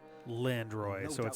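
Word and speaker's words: Landroin: landroid that proud fool landro fight to The Bitter End but house Fox alone is no match for the grand duy so not in any way interestingly pronounced just landro yet if house wford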